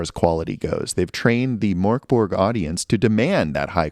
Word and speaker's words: Mörk Borg: I do understand that the umlauts over the O are not just heavy metal umlauts, but they do in fact affect the pronunciation, making it closer to Mörk Borg, though I sound really pretentious saying it that way, so I'm not going to do it, even if it is correct.